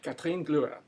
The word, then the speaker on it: Kathrin Glüer: Kathrin Glüer.